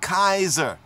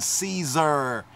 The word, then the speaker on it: Caesar: have nine copies but 10 copies how about Kaiser let's touch on Kaiser or Kazar let's touch on Caesar right as they say it nowadays in the